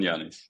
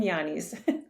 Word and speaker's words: Ioannis: to ask him two times how do you pronounce his name so Janson yanis yeah yason yanis yon yanis there you go welcome to the show thank